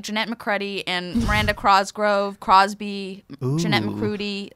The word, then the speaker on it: Cosgrove: I say it wrong, even though I love her, but it's Cosgrove. It's Cosgrove. It should be Cosgrove. But we hang out all